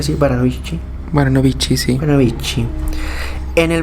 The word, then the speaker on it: Baranovichi: verano de 1942 en en baranovichi sí s pronuncia así baranovichi baranovichi sí baranovichi en el verano de 1942